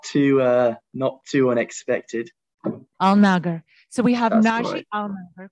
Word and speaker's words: Alnagger: How do you pronounce it? Yes, it's just Alnagger. Not too unexpected. Alnagger.